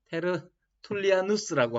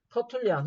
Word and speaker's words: 테르툴리아누스: 여러분, 종종 이게 영어식 발음으로 하면 터툴리안이라고 그러고 이제 라틴어식 발음으로 하면 테르툴리아누스라고 하는데 예, 터툴리안이라고 제가 맨